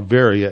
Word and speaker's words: Berea: go from there to Berea or Veria as it's pronounced in Greek very and there again